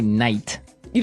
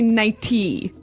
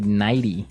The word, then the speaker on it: nightie: But you don't say night. You don't say nighty. You say nighty. Yeah. You you make the t a d nighty.